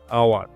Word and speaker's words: hour: যেমন অ্যান আওয়ার, এখানে HOUR শব্দের উচ্চারণ আওয়ারের মতো হয়, তাই আওয়ার শব্দের আগে অ্যান বসে।